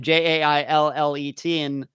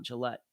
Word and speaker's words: Jaillet: And I have to admit, even when I was saying it during the interview, I had to keep reminding myself it's Jaillet, not Gillette.